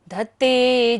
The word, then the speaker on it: धत्ते: स्तोत्र सृजन तव जिनेन्द्र गुणैर्निबद्धाम् भक्त्या मया विविध वर्ण विचित्र पुष्पाम् धत्ते, धत्ते ध है ये धनुष वाला, कई लोग इसे घत्ते बोलते हैं, घ नहीं है, ध धनुष वाला। धत्ते जनो यैह कण्ठगता मर्जसम्,